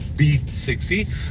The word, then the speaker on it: BE 6e: It is BE6E, but they pronounce it as B6E.